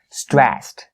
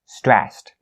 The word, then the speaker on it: stressed: Stressed, stressed. The ed part here is supposed to be pronounced as the T sound because it's voiceless.